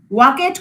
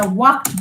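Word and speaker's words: walked: ওয়াকেট কখনো বলি না, আমরা ওয়াকড বলি।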